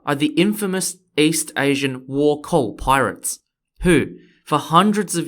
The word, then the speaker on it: Wokou: The pirates we're going to talk about are the infamous East Asian Wokou pirates, who, for hundreds of years, terrorized the coasts of China, Korea, and occasionally other places like the Philippines.